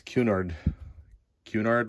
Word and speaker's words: Cunard: I apparently made a mistake last time. I called that Cunard lines and it's Cunard lines. Maybe I still didn't say it right.